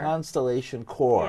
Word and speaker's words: Constellation Chor: Constellation Chor, yes. Right? CHOR, right. not CORPS, right?